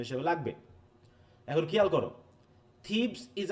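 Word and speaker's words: Thebes: থিবিস না, কিন্তু অনেকে বলবে থিবিস, তাই তো? দেখি প্রোনাউন্সিয়েশন দেখো, ফাইসি, এ দেখো থিবস, হ্যাঁ থিবস, মনে থাকবে? দেখো থিবস, হ্যাঁ থিবস, হ্যাঁ এটা একটু খেয়াল রাখো, থিবস।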